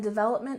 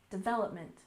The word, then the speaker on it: development: second syllable sustainable sustainable and development we also stress the second syllable development development altogether sustainable development